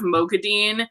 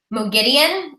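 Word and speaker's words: Moghedien: Yeah, and I noticed that, how in the audiobook they started pronouncing Mogideon's name as that instead of Mogadine. They keep switching. Yeah, so I had to like look it up at some point. I was like, what is the right way to say it?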